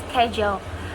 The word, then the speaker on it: schedule: Another example. Schedule. Schedule. It is how American English pronounce schedule, but in British they pronounce with schedule, schedule, and schedule.